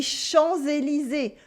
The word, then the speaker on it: Champs-Élysées: Or les Champs-Élysées, with a lot of silent letters.